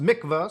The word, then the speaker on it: mikvah: It actually says pronounced mikvah, so I was right in the first one.